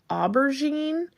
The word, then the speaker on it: aubergine: one is still available, and it is called Aubergine.